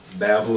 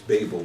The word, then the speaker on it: Babel: in the city of Babel or Babel whichever way you want to pronounce it Americans in the American language it's pronounced uh Babel in the other way it's Babel but in other words